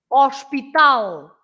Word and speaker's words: hospital: Like, for example, azul, hospital, for example. You say hospital, so you write exactly the same, hospital, but you pronounce, you stress hos, and we stress tal, right?